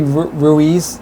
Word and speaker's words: Ruiz: Ruiz? You did this time. Sometimes I'm bad with pronouncing.